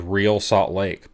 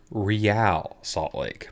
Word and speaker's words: Real Salt Lake: I was pronouncing wrong I thought it was real Salt Lake but it's real Salt Lake because they fancy yeah this jerseys ugly